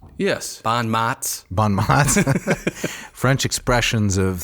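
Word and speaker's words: bons mots: And preserved for us by Plutarch in his Parallel Lives, we have some really interesting little, I think it's pronounced bon mots. Yes. Bon mots.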